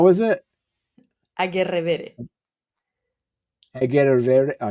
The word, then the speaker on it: Agerrevere: Or does it end with an E? Agerrevere. No, Agerrevere. In Spanish is an E sound at the end.